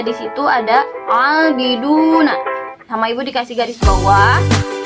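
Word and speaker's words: عَابِدُونَ: Itu ada dhammah menghadapi waw sukun. Kita hukumi sebagai mad tabi'i. Mad tabi'i ini dibacanya panjang 2 harokat. Jadi abiduna, 2 ketukan ya, atau 2 harokat.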